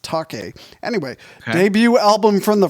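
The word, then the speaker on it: Taake: and take a t-a-a-k-e i believe that's pronounced taki anyway debut album from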